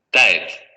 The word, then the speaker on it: tête: tête, tête, También se escucha una ligera variación al principio, como si existiera un diptongo, tête, que es lo que escuchamos también aquí.